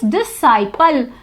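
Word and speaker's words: disciple: Second is डिसाइपल, यहाँ पर सी silent है।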